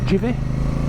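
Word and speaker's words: GIVI: with these GI cases jivy it's got to be jivy a't it like G of army jivy G followed by I in Italian pronounce j so the risk attent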